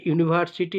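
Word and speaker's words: university: কিন্তু বারবার বলে দিচ্ছি যেহেতু এর উচ্চারণ ইউ আসছে ইউনিভার্সিটি তাই ইউনিভার্সিটির পূর্বে এ হবে।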